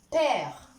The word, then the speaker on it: père: Elle est suivie par une syllabe qui contient un E muet. Père. Voilà, on ne dit pas père. Donc ici, le E est muet.